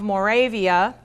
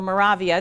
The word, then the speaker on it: Moravia: the southern area of Moravia or Moravia to there's two different pronunciations of that I always switched back and forth near brono and what